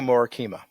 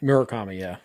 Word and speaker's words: Murakami: Munitaka Morakima. Is that how you say it? Munitaka. Mori. Morakami. Morakami. Murakami. Yeah. Murakami. Yeah. So, Munitaka Murakami.